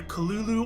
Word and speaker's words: Cthulhu: we go here see when I was growing up you pronounced it Cthulhu not Cthulhu the tulu is how low Kraft himself preferred it to be pronounced his well his I think what he said was the proper pronunciation can't be done by the human tongue and instead you should pronounce it either Kalulu or Cthulhu and he preferred Cthulhu or at least in